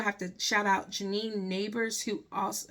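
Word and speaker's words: Nabers: to shout out Janine neighbors who also I think that's how you say her name because it's spelled n-a-b-e-r-s I think but I'm thinking you pronounce it like neighbors next door neighbor knock knock um but um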